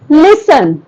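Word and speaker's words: listen: speak speak very good लिसन लिन लिसन यानी सुनो लिसन का स्नी देखो लिसन न टी बोलते हैं टी बोलते हैं हम लोग नहीं दैट इज व्ट साइलेंट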